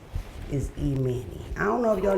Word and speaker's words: Emanny: I just used the name she used, which is Emanny, nigga.